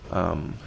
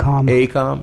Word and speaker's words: AECOM: for us to reassign direction to the company, Avcon, am I pronouncing that correct? AECOM, excuse me, AECOM.